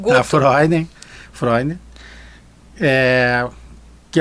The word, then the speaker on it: Freunde: A pronúncia é Freud, mas a a escrita é diferente, é o nome que vem do alemão.